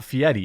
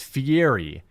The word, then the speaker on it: Fieri: that is uh Guy Fieri he were he he apolog he pronounces it Fieri but it's just not fietti it's Fieri there's no t or d in it I don't care what